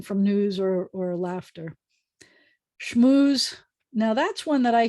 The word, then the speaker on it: schmooze: a spiel like a schmooze it's not a smooth it's a schmooze um which reminds me of some of the